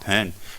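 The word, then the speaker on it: Bon: parents at this time it's spelled b-o-n if it's pronounced pen you don't look at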